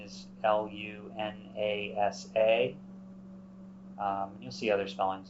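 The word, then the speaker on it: Lughnasadh: mentioned a second ago it's it's lunasa you'll see it spelled different ways it's often spelled l-u-g-h-n-a-s-a-d-h um the Modern Irish spelling is l-u-n-a-s-a um you'll see other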